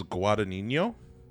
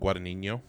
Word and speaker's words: Guadagnino: I think it's Guadagnino. I think that G is silent. Guadagnino.